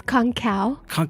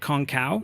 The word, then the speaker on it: Kongkaw: conga do I say that right now it's konkow is it really mm-hmm I pulled it I've only only seen it but yeah so konkow mm-hmm or if you really want to like